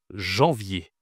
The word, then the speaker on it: janvier: Attention ici à la prononciation. janvier, c'est difficile. C'est difficile parce que tu as une nasale ici, jean en d'accord et tu as une semi-consonne. Y y est, d'accord ?